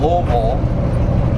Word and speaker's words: Louisville: know you always hear louisville slugger and and all this stuff but it's actually you gotta pronounce it like you have mush in your mouth they said so it's louisville kentucky but it's uh